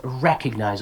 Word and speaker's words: recognize: that reminds me everybody this is a commonly mispronounced word like thank you so much um it's recognized okay put that stress at the very beginning recognize like you know that's